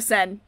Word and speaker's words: Seine: Nope, there's no way you caught a 2-meter catfish in the Seine. What? The Seine. That's how you pronounce that word.